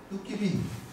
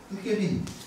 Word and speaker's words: 두꺼비: 호랑이나 뱀이 바로 그거죠 이지역 방언에서 두꺼비를 두깨비 두깨비 이렇게 발음합니다 소고기를 세기기 소기기라고 발음합니다